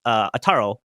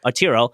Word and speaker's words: Arturo: It's Ataro or oh my god, I'm saying his name wrong. Arturo.